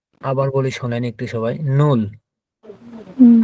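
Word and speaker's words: null: এটা জার্মানে বা ডয়েসে বলা হয় হচ্ছে নুল।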